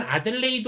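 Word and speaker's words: Adelaide: 호주의 떼들 레이드 뭐 발음은 아들레이드 오라고 합니다 마 일본어로는 자 애들레이드 로 모두들 갔었을 껍니다 자마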